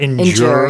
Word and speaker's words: endure: 뜻인데 이 발음이 when you say endure, there's a little J in there, yeah, right? You kind of hear that endure, yeah. endure, right? I don't know what the exact 발음기호 is, but just be aware of that.